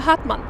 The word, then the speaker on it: Hartmann: If she is from Germany, it would be Krista Hartmann.